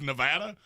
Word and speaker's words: Nevada: Yeah, in spite of the fact that I now know it is Nevada, I can't get over how grinding that sounds.